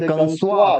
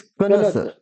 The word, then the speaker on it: connoisseur: एंड the next word is pronunciation, इसका भी different है, कनस, कुछ लोग इसे कंसवा कहते हैं, कंसवा, कंसवा, इट इज नॉट कंसवा, इट इज कनसर, इट इज कनसर, कनसर, क्या, कनसर, CONNOISSEUR, कनसर, one who has a great